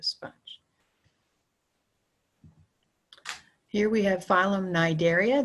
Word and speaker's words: Cnidaria: here we have phylum Cnidaria the C is silent just like the word knife the K is silent this includes a greater